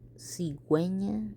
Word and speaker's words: cigüeña: Pingüino, bilingüe, cigüeña, vergüenza. And they all have two little dots on top of the U because you are allowed to pronounce the U even though it's next to the G.